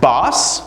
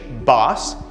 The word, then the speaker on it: bass: type of instrument or a sound so that's bass the fish it's a kind of fish bass on the other hand you have bass for